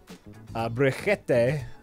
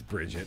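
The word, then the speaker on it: Brigitte: new hero in overwatch briquette day or however you pronounce her name uh-huh Bridget it's Bridget let's just call it Bridget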